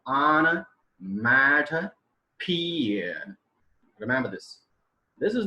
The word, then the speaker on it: onomatopoeia: onomotopia, like this. I was entirely wrong at the time. And the right pronunciation of this word is onomatopoeia.